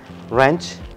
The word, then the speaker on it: wrench: the most famous one w before R is going to be silent rap right don't pronounce these words wrong wrench wrinkled and wrists so